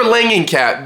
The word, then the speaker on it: Langenkamp: Wes Craven's New Nightmare sees Heather Langenkamp Heather Langenkamp? Yeah. I I may be saying her name wrong. It sees Heather Yeah, I'm definitely saying her name wrong. Heather Langenkamp there we go.